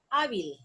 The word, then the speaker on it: hábil: Por ejemplo, hábil. Hábil, miren. La sílaba tónica está en A. Y como termina en L, yo tengo que ponerle tilde a la A.